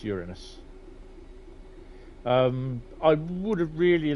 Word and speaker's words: Uranus: know where to look it's pronounced Uranus Uranus not Uranus uh or Uranus bit like uran um but Uranus um but